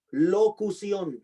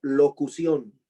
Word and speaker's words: locución: Locución, con C de Carlos y acento en la última O. Locución.